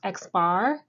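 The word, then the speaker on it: x̄: the sample mean denoted with this figure it's pronounced x-bar and standard deviation as previously mentioned we're dealing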